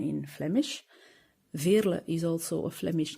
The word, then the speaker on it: Veerle: It's more easy to say than Veerle, which is the pronunciation in Flemish. Veerle is also a Flemish name, so but for